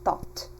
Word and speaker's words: thought: like in this case, G, H, T, they are pronounced as one sound only, and TH is pronounced like T alone.